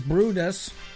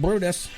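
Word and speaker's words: Bryde's: from other brides pronounces brutus so b-r-y-d-e-s is pronounced brutus proved difficult because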